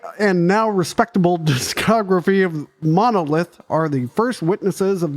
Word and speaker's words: Monolithe: They're from France, so you don't pronounce the E. Le Monolith.